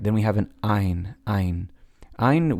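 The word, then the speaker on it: עין: Ein, we've kind of lost the pronunciation of Ein over time, but more often than not, it seems to be pronounced as an Ah.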